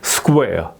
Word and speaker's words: square: square 이렇게 발음을 해야 된다 이거죠. 예. 그래서 여기에 이제 유도음 을을 이제 넣은 거예요. Q 할 때는 항상 크가 발음이 된다 하기 때문에 예, 그런 거고. 예.